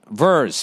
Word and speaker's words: vers: Vers for short. Pronounce verse as in a song.